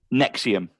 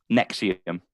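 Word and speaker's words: NXIVM: version of it um Nexium Nexium so it's it's spelled NX IVM but pronounced Nexium so it's it's been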